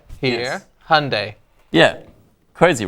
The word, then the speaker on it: Hyundai: depends that's not going to stick well uh heandi here Hyundai yeah crazy right Hyundai and I think Hyundai is Right Hyundai I